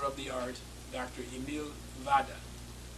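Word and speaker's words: Vodder: Emil Vada. It's spelled V-O-O-D-E-R, but the Germans pronounce it with an F. So I call him Dr. Vada as well, out of respect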